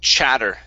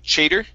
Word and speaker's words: chatter: This word here is pronounced chatter instead of chater.